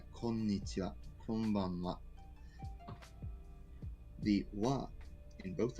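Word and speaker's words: こんにちは: You say, konnichiwa, konbanwa. The wa in both of those is this particle here. Huh. You notice you spell it konnichiha, but you say wa.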